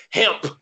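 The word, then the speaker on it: Hamp: You had Boston College cornerback Hemp Cheevers. Now, his name, Hemp, like H-A-M-P. Hemp.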